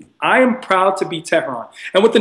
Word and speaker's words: Tehran: I'm like, no, it's not Tehran, it's not, it's Tehran.